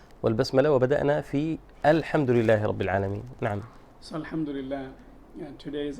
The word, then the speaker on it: رب العالمين: الحمد لله رب العالمين. ربيل وليس ربيل، ليس ربيل وإنما رب العالمين.